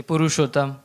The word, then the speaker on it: Purushottam: Comment on le dit? C'est Purushottam.